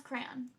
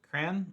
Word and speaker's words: crayon: How do you pronounce crayon? Is it one syllable or two? Crayon or crayon? Or two syllables where the second syllable rhymes with don.